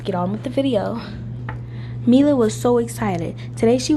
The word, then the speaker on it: Mila: I might pronounce wrong like Mila it might say I think it might say Milo but I want to say Mila so that is a